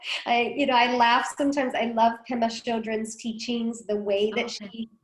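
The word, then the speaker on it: Pema Chödrön: I'm really bad with pronouncing sometimes. It's okay. Her name's Pema Chodron.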